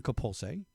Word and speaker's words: Coppoolse: a friend of mine that's in town, Miranda Coppoolse, from the Netherlands is the proper way to say it, correct?